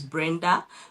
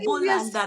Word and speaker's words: Brenda: My name is Brenda. Though in China, most people call me because they couldn't pronounce the name Brenda. Yeah, they would call me Bulander. That's my my Chinese name is Buland.